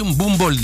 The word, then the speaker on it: M'Boomboldh: Mais Mbumba Mbodou, on dit Mbumbold en pounou. Ah, Mbumbold.